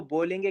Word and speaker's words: Ball: आपने इंग्लिश में जाना होगा, इसको बॉल कहते हैं, इसको बॉल कहते हैं। ये वही बॉल है जिससे आप लोग खेलते थे, बट इसको जर्मन में प्रोनाउंस कैसे करेंगे? ये हो जाएगा बाल, बाल, बाल।